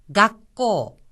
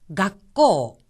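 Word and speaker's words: 学校: 학교란 뜻인데 작은 쯔가 마치 기역처럼 들리죠. 하지만 한 가지 주의하셔야 될 점은 발음할 때 각하고 나서 잠시 숨을 멈추었다가 코라고 하는 겁니다. 각고, 각고. 또한 여기서 코 부분은 코라고 하는 오 모음 뒤에 우가 이어졌으니까 코하고 길게 발음을 합니다.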